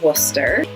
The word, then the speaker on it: Worcester: A lot of letters in there, just kind of suggestions. And then similar to Worcester is Gloucester and Leicester. They both have that CES combination that Worcester does that you kind of just smoosh all together.